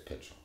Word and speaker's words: Pychyl: Because most people say Pychyl or Pychyl, but it's Pychyl.